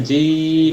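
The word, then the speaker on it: جيم: যাচ্ছে আলিফ বা তা জিম স্যার একটুই করতে হবে হ্যাঁ জিম এই টান দিতে হবে জিম শেষে এসে মানে ঠোঁট মিলাইতে হবে জিম হা তাল এখানেও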